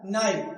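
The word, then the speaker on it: knee: तो यहाँ लिखना, इसे कनी नहीं बोलना है, इसे क्या बोलना है, नी बोलना है। तो यहाँ जो एन से पहले के वो क्या है, साइलेंट है, क्योंकि जब किसी वर्ड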